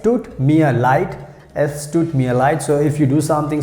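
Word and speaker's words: es tut mir leid: me a light s toot me a light s took me a light so if you do something so you can say s took me a light i'm sorry s took me a light stood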